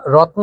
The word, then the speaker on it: রত্ন: তো রত্ন, লক্ষ্য করুন, যখন আমরা উচ্চারণ করেছি রত্ন, তখন এই তয়ের পরে কোনো স্বরধ্বনি উচ্চারিত হয়নি, এজন্য কিন্তু আমরা হসন্ত চিহ্ন বা হর্ষ চিহ্ন দিয়ে দিয়েছি, অর্থাৎ এর পরে কোনো স্বরধ্বনি উচ্চারিত হয়নি।